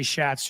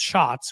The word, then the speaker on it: Schatz: I used to say Schatz too. I've been told it's pronounced Shots, which I understand why.